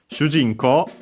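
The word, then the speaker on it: 主人公: In this case, the accent is on the G. So low, high. Notice that the shi and small u is a single more. So yeah, low, high, and everything else low.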